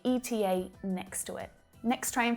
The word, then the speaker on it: ETA: and written english but when you pronounce it out loud you pronounce the three letters e t a i could call you